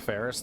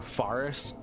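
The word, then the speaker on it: Pharis: I do prefer the black bow of Ferris though, because, or Faris, however you want to pronounce it.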